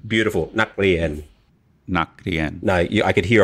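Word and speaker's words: นักเรียน: Again, you're aspirating the K at the end. Of course, it's at the end of a syllable, kill the throat. So, naklien, naklien. Naklien. No, see how your liaison, the K to the R. It has to be naklien. There's no k. It's not naklien. Naklien.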